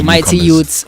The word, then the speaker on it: Mightyyout: For the Mightyyout on all platforms.